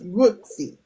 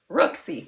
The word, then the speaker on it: Rooski: So it's Rooksy. Rooksy, yes.